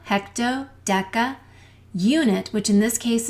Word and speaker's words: deca: they come together and the hard K sounds are to the left kilo and deca also don't forget that